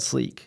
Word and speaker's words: Sleke: Yeah, we're called Sleek, and we spell Sleek. it differently. We spell it SLEKE, SLEKE. and that's just for brand differentiation.